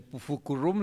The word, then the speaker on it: Pufucurrum: a su partido, el Pufucurrum le decíamos, porque era impronunciable las siglas, entonces le pusimos una U a cada sigla y así se podía pronunciar, Pufucurrum, y el ferrocarril, como